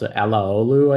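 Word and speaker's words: Alaoglu: Ekin, who's in this program, is Turkish, told me it's pronounced Alaolu, I think. I always wondered, but Alaolu's theorem. Yeah, I think that's the rough pronunciation. It's roughly correct.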